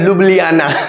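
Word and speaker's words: Ljubljana: jubilee जाना जुबलीक jubilee Gandak jubilee जाना jubilee जाना जुबली जा जुबली ध्यान रखो नहीं पढ़ पा रहे हो ना इसमें जे साइलेंट है लुबलियाना कैपिटल क्या है लुबलियाना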